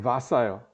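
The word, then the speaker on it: Vasa: 이거는 발음이 와사가 아니고 바사예요. 바사.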